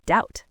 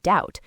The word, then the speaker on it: doubt: The pronunciation remained doubt. The B became a silent ghost.